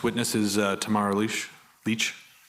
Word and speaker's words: Lich: the record please State your full name and spell it out Tamara Lee Leach l-i-c-h do you swear that the evidence to